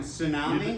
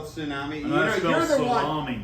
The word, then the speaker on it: tsunami: know how to spell tsunami you're the one that talks no tsunami the big wave like when you and i jump in a pool a tsunami yeah the t is silent i don't have a